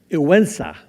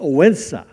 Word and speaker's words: Odense: It's called Odense, and it's spelled O-D-E-N-S-A.